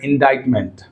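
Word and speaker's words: indictment: Coming to 82 which of the following is a silent consonant letter in the word इंडाइटमेंट?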